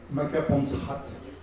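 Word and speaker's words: Makapansgat: dans la vallée de maapansgat par qu'on prononce makapansrat donc nous allons les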